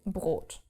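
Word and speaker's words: Brot: Let's take the word bread which is brought br this in this combination you have to pronounce the r. So brought.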